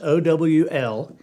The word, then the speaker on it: owl: and that's 3 letters, O-W-L, owl, and a lot of people pronounce that with 2 syllables, owl, Look at that owl.